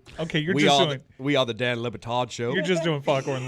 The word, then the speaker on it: Le Batard: Okay, We are the Dan Le Batard Show.